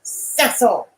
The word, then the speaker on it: Cecil: The name is Cecil. It is pronounced Cecil.